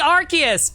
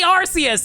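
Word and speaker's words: Arceus: Legends rcus stream series I know it's supposed to be archus but it was originally arus you can't blame me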